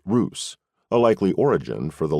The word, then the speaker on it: Rus: known as the capital Rus pronounced Roose a likely origin for